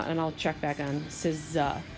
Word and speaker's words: SZA: In one of my classes, said her name was Scissor. Apparently her name is SZA.